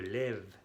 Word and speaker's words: lève: Aquí se cambia por E, je lève. El acento, l'accent grave.